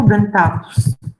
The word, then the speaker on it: dentatus: Dentatus, dentatus, cruciatus. If you see atus, then the accent is there.